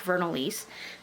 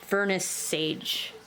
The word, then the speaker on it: Vernissage: And that is, I have no idea how to pronounce this, and I keep calling it the black vernalise, but I know that's wrong. It's a Vernus sage.